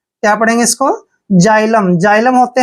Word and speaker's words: xylem: यहाँ y आया है, जब भी x के साथ y आता है तो भी हमने x को जय पढ़ना है, तो x का उच्चारण हम यहाँ पर जय करेंगे देखिए, और y को हम यहाँ पे आई पढ़ेंगे ऐसे आई, और L E का उच्चारण ले करेंगे, M को मैं पढ़ेंगे।